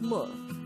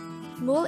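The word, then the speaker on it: 물: water in english koreans call water as mo and this is considered a noun mole is composed of just one syllable which is formed from the combination of the sounds of mium ur and real and with that you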